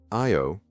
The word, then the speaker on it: Io: Io, pronounced I-O, is the nearest of Jupiter's 4 major moons, with an orbital period of approximately 42 hours.